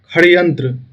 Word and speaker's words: षड्यंत्र: षड्यंत्र, षड्यंत्र, षड्यंत्र, षड्यंत्र को मैथिली में जो उच्चारण होगा वो खड़यंत्र, खड़यंत्र। ठीक है, ख से उच्चारण हो रहा है, खड़यंत्र।